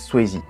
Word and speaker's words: Swayze: Mais en réalité, les Américains disent Swayze. Patrick Swayze donc, continuons d'utiliser la prononciation à la française, joue le rôle d'un